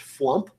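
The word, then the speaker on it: FWMP: the firmware management parameters by the way is pronounced flump uh because that has fewer syllables uh so the flamp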